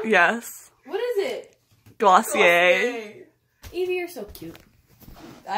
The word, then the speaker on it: Glossier: I love Glossier. Am I saying it wrong? Yes. What is it? Glossier.